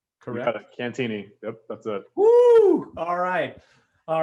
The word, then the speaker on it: Cantieni: with the sierra seattle mariners strength coach cantini now first of all did i pronounce that last name cantini yup that's a whoo all right all right